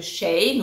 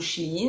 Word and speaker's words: Shein: sur un haul spécial Shane ou Chine selon la prononciation de chacun et en fait il